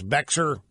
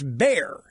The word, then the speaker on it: Bexar: this County in Texas Bexar and it's bear the it's Spanish the X is silent in Spanish I should have known